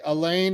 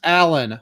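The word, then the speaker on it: Alain: Elaine is the French. Okay. It's pronounced Alan.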